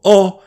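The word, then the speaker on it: を: To the best of my knowledge, it's still pronounced as o.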